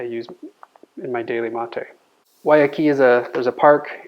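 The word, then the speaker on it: Guayakí: one I drink the most it's U called Waki is how you pronounce that it's an American brand it's dried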